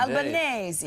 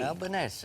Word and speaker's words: Albanese: And we finally got the pronunciation of your name right. Indeed. Albanese. Albanese. Because of your Italian heritage.